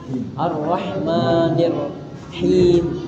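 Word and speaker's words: الرحمن الرحيم: Itu aja pengucapannya. Nah, sama dia tadi di Iya. Nah, h-nya itu h-nya itu dia him arrahmanirrahim kecil. Arahmanirrahim.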